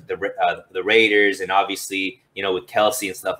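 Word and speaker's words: Kelce: Yeah, I think in the NFL right now, it's Kelsey or Kels or whatever he said is how he, but everybody knows. He did say that it's not pronounced. He said, well, it's actually Kels.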